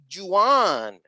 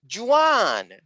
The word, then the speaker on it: Juan: on my own name she insisted that i was pronouncing my name wrong and that in english it was juwan i kept shedding parts